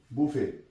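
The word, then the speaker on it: buffet: में तो बड़ी मशहूर बुफे बीय ड डबल एफ टी बुफे य बच्चों की बड़ फेवरेट चीज है तो इसे य भी साइट बफे अब आगे आ जाए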